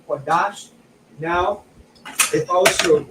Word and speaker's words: Qadash: We have a Kwa, a Da, and a Sha, Qadash.